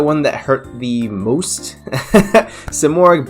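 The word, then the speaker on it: Simorgh: that hurt the most simorik bird uh of sovereign sovereignty i believe is how you say it so of course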